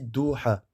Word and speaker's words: Doha: Doha, ça s'écrit comme ça, hein, comme vous le voyez ici. D'accord? Doha. Mais en fait, ça se dit Doha.